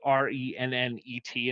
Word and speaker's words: rennet: rennet now it's spelled r-e-n-n-e-t and it's one of the few times where a french word you actually pronounce the t uh rennet and bergamot